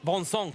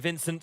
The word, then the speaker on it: Vincent: just to hear the thoughts of vonson company cuz that is the correct pronunciation you'll hear him called Vinnie and Vincent as well but a reminder three